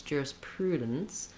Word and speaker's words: jurisprudence: think about the sounds, jurisprudence, but I'm not really making much vowel there. That's just the result of moving from the D position to the N position and making the N sound a syllable.